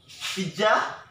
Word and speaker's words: pizza: The right pronunciation of this word is pizza. Pit? Pit. Pizza. Pizza. Okay, not pizza. Pizza. Not pizza. Pit is pit. The sound of pit. Pit. Pizza. Pit.